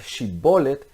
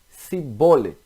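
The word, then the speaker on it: שיבולת: Aí, ao invés de dizer Shibolet, eles falaram Sibolet.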